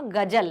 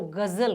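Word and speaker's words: ग़ज़ल: अब इसको भी गजल नहीं कहते, इसको गजल कहते हैं, गजल, गजल। इसके नीचे भी गा के नीचे लगकर ग, पता है कैसे प्रोनाउंस करते हैं? गा, गा, यहां गा, गजल होती है, गजल।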